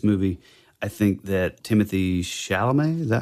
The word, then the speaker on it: Chalamet: I think that Timothy Chalamet, is that how you say it? Or Chalamet, but I think it's Chalamet.